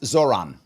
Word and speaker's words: Zohran: It's pronounced Zoron.